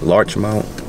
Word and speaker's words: Larchmont: left large Mount L how you say it Larch Mount there a r Larch Mount Larch M yeah